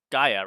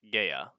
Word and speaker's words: Gaia: hypothesis in which case its pronunciation is gaia rather than more classical english geya there are a number